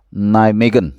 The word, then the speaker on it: Nijmegen: Ya, ini pemain asal Nijmegen, bacanya begitu ya.